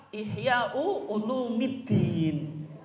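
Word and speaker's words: إحياء علوم الدين: Kayak orang bilang Ihya Ulumuddin atau Ihya Ulumuddin. Yang betul apa? Ihya Ulumuddin atau Ihya Ulumuddin? Yang terkenal apa, Bu? Yang betul Ihya'u Ulumiddin. Tapi bacanya berat kalau Ihya'u Ulumiddin.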